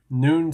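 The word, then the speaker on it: None: By the way, this is noon scepter. Now, make up what you will of his name, but his name is spelled N O N E. Noon Scepter.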